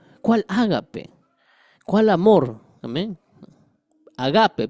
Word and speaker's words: agape: Agape, perdóneme. Agape. Acento en la g.